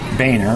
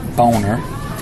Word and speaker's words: Boehner: conference regarding us Speaker John Boehner actually pronounced boner refusal to take up